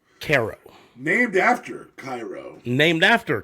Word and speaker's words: Cairo: a city whose name is spelled Cairo pronounced Caro named after Cairo named